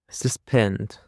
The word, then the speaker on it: suspend: That's it, and now let's go to the last word that we have, which is suspend. Suspend. The stress is on the second syllable, suspend.